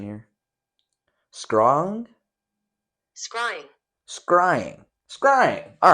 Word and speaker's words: scrying: This work, by Merrick Casaubon, describes the occultist Dee's activities with his associate, Edward Kelly, in the art of scrying or crystal gazing.